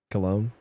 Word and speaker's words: Cologne: Which I believe is pronounced like the body spray. Cologne.